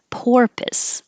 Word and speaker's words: porpoise: Porpoise. This is the animal, like a dolphin. Pour. The same as pour. Porpoise. It's similar to purpose, but this UR sounds like ER.